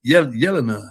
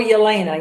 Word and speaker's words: Yelena: How do you pronounce her name? Yelina. How do you say Yelina? You said it right now. But or Yolena. Yelena for America.